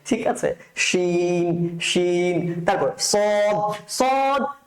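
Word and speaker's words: ص: আছে শিন শিন তারপর সদ আর বদ সেম সেম এক জিনিস দুইটাই কি মোটা করে উচ্চারণ করতে হবে দুইটাই মোটা করে উচ্চারণ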